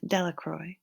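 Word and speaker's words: Delacroix: Harry Jones and Dicky Delroy the villagers pronounced this name delacroy eventually made a great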